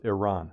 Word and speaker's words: Iran: Uh, another thing too is JD Vance saying that Iran and notice how he says Iranians. Who says Iran or Iranians? It's a purposeful misprononunciation of Iran. It's Iran. It's Iraq and Iran. Let's get this straight.